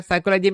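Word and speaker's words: psychology: Silent हो जाता है, साइकोलॉजी में पी साइलेंट हो जाता है।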